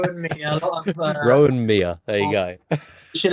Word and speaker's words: Rohan Miah: I'm sorry, I've been pronouncing it with a hard H as well this whole time. All I've right, been go- yeah, I've been going Rohan. I think I said Maya as well at the start. So there you go.